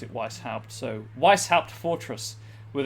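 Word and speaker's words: Weisshaupt: Or, as much as it pains me to say, they do pronounce it Weishaupt, so Weishaupt Fortress, with its walls of living rock towering over the desolate plains below.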